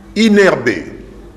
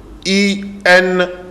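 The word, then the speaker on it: INRB: Certains, et ils sont nombreux, ont dit inerbé. Faux. C'est I-N-R-B. Prononciation, Ezali, I-N-R-B. Tout ça, c'est une erreur. C'est vrai, dans la lingala, Ezala kané. Mais na français, Ezala ka N. S-N-C-C. Toyokani. Donc, botika pour prononcer inerbe, pour prononcer I-N-R-B.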